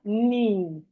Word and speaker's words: knee: We have knee, knee. The K is silent. The K is silent in knee.